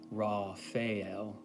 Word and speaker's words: Raphael: So Raphael, there's two main pronunciations. When I vibrate the name, typically I pronounce it Raphael. But if you read from Donald Michael Craig's book, Modern Magic, which I've highly recommended on this channel before, he says to pronounce it Raphael, with an emphasis on the L, the last syllable.